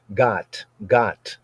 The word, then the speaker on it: Gath: People say Gath, but Gath is the English, a Gentile pronunciation, right? It would not be, we don't use the vowels in that sense for this sort of a word. Got, right? From got.